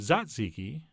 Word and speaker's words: tzatziki: of cold yogurt sauce our tzatziki sauce would be perfect here although apparently I'm supposed to pronounced it zatziki but that feels awkward but what doesn't feel